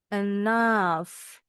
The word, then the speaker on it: enough: Kalau gh di belakang bisa silent. Contoh di kata ini atau berubah bunyi jadi f. Left enough tough.